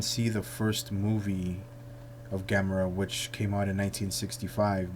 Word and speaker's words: Gamera: or Godzilla discussion and that's Gamora /or Gamera as the Japanese usually pronounce the name and then if I